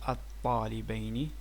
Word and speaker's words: الطالبين: will have من هذين الطالبين. In reality it's like L, but the L will be assimilated to the T, and it becomes الطالبين. It's like, just like a pronunciation.